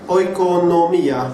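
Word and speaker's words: οἰκονομία: وهي الكلمة هنا كلمة الوكالة أو dispensatio هي oikonomia باليوناني. It's spelled O-I-K-O-N-O-M-I-A.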